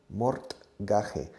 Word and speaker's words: mortgage: Se escribe mortgage, mortgage. Se pronuncia mortgage, como una che al final. More, like more or less, more, mortgage, gage.